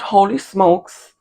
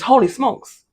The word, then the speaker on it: Holy Smokes: know in the store I was pronouncing it wrong I thought it was hly smokes but then I was like oh no it's holy smokes like the phrase holy smokes and it's for pork